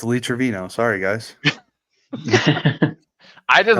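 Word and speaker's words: Lee Trevino: the end of this trino all right it's Lee Travino sorry guys I just like the fact that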